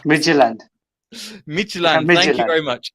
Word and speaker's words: Midtjylland: Then I don't know how to pronounce Midtjylland. Midtjylland.